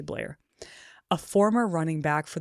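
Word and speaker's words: Bleier: I don't know if I'm pronouncing that right, but it's b l e i e r. So, I'm just going to say Bliar.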